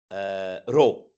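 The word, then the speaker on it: ρ: So I give it the symbol rho, the Greek letter for R. It looks like a P in English, but it's actually pronounced R, so it has the R sound.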